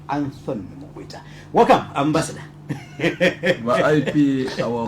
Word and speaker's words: Mukwita: I wanted to pronounce it in a London way. Not the Zambian way. It's going to be Anton Mukwita.